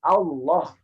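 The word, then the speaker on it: الله: lafaz ini kedua Masyaallah lafaz ini lamnya dibaca tebal tidak ada lam yang dibaca tebal dalam Quran ee mana pun kecuali pada saat lafaz Allah contohnya Allah kenapa bukan Allah Allah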